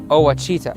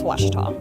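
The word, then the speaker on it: Ouachita: uh I've heard people say OA oh a Oita is it pronounced Oita searching for wasita Baptist University back in Texas everybody pronounces it witch but really it's wash was was how would you pronounce it wash was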